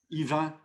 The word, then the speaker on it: Yvan: french or in english in french we say eva i go around